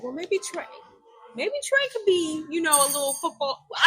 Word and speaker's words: Trae: I was like, well, maybe Trey could be, a little football.